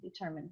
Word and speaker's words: determined: are not determined mostly the pronunciation pulls on the second syllable determined thank you awesome chris